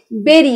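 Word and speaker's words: bury: বেরি মানে হচ্ছে এর উচ্চারণটা অনেকেই আমার স্টুডেন্টরা বুড়ি বুড়ি করে, বুড়ি না, এটা হচ্ছে বেরি, বয়কারে রয় রস্যিকারে।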